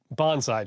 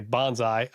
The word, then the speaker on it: bonsai: he he you know we all say I mean I say Bonsai um and I feel like that's what I hear most people say but I guess he says the appropriate pronunciation Bonsai yeah he does it